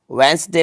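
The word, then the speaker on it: Wednesday: तो देखो साइलेंट क्या होता है, देखो वेंसडे में यहाँ पे डी साइलेंट है, तो यहाँ पे आ जाएगा, चलो मैं राइट करता हूँ आपको, यहाँ डी आ जाएगा।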